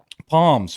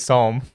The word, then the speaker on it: psalm: you didn't see who picked the cotton for my shirt who the heck is Palm s sorry silent P my boy my boy's psalm homes 3137 9.